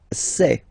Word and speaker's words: sais: Je sais. Okay, final S not pronounced, and then you get this A-I, E. Okay, je sais, sais.